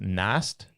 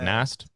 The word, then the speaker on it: Nas7: So I guess it's Nast. Okay, so the 7's like a T. So it's like Nast.